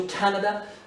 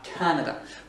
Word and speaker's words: Canada: L'accentuation se fait sur le A, Canada. Pourquoi je le dis? Parce que quand on dit Canadian, l'accent est déplacé vers le fond du mot. Canada, c'est sur l'accent tonique et sur la première syllabe.